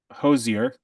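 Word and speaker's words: Hozier: classical music as I was doing work MH Hosier did I say it right yep it is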